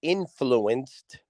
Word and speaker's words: NFLNCD: It's called Influenced with a D. But it's spelt influenced with no vowels. Like if you took the word influenced and took out every single vowel, that's the name of the show. So it's NFLNCD, influence.